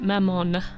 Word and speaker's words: Mammon: in my head m not sure how to pronounce it Mamon we say it Mamon for now I'll probably